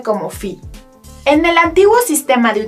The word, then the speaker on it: phi: te muestro en la pantalla y que se pronuncia como phi.